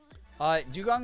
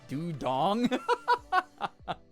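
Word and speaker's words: Dewgong: Dugong upsets me so much because my dyslexia, I always pronounce it as Dudong.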